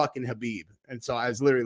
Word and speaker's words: Khabib: then but I know I always say kabib and people like his name's khabib and so I was